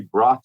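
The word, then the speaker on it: Brotton: out uh Stephen is a book by Jerry Bron it's spelled b r o t t o n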